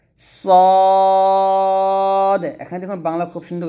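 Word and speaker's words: صاد: আমার সাথে পড়েন সদ এটা কিন্তু আমরা অনেকে সোয়াদ বলি সোয়াদ এরকম তো সোয়াদ বলা যাবে না বলতে হবে সদ এখানে দেখুন বাংলা খুব সুন্দর করে লেখা আছে সদ এরকম ভাবে উচ্চারণ করবে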